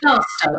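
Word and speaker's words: Plaistow: Is that how you pronounce it? Plasto, is that right? Plasto, I say Plasto, yeah.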